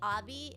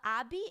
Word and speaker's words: Abi: I think um and a lot of people say Avi you could say Abby cadabra sounds like Abracadabra more so I usually Abby but Abby is how you would say in